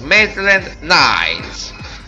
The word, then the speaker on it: Maitland-Niles: Adesso vi faccio vedere come pronuncio. Maitland-Niles.